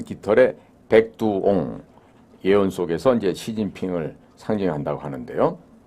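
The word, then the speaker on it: 习近平: 아 시진핑 우리가 아 중국 발음으로 정확하게 성조를 하면요 아 시진 핑 2성 4성 2성 이런 식으로 발음해야 되는데요 하도 이제 말 하다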